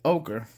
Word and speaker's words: ochre: is naples naples ochre somebody told me ochre because you guys know i always screw that up ogre rhymes with joker i just have to remember that so it's ogre and it goes beautifully